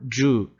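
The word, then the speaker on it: じゅう: Então, apesar da gente escrever com YU aqui, no meio, ele vai juntar esse som e o I vai ser apagado. Então, a gente vai ter só o ju.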